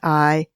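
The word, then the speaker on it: IDARE: I Dare, that's I-D-A-R/E, but it's pronounced I Dare, takes its inspiration from the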